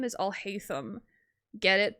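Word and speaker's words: Alhaitham: I mean, his name is Alhayam. Get it? Pronouncing his name kind of sounds like I'll hate them.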